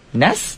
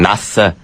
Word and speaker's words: Nas: they hear this song they're like uh Nas Ness they say his name wrong Nas Nas Nas Nas actually that wasn't